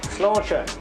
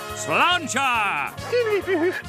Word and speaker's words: Sláinte: Slóinte. What? Slóinte is the Irish for cheers.